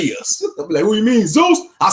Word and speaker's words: Zeus: like i heard something i heard somebody pronounced who's like this before zayus i think brother jacob announced it like i said man that might be how they really pronounce it in the greeks yes you're like hey